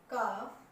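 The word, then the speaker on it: calf: ठीक एफ से पहले अगर एल आ जाता है तो एल साइलेंट रहेगा। नीचे 3 वर्ड जो आपको दिखाई दे रहे हैं, वॉक, टॉक, स्टॉप, इनमें एल लिखा हुआ है लेकिन इनकी साउंड नहीं है। ठीक बात क्या है कि एफ और के से पहले अगर एल आ जाए तो वो साइलेंट रहेगा, बोला नहीं जाएगा।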